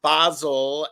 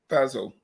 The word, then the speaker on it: Basil: because we need some basil and some herbs. But aluminum, Aluminum. Well, you do very well pronouncing my cat's name, basil. Basil, Yep, not basil. not Basil.